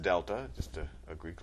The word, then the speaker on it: Delta: over change in X that triangle which is pronounced Delta just a a Greek letter that means change